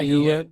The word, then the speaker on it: Nguyen: McCoy, another guy named Alex Ocha, and George Nguyen. How you pronounce it, Chris? It's a Vietnamese name. Nguyen.